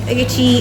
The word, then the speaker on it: Adetoun: Alright, so that's written Adetoun, and they try to tell you how it is pronounced.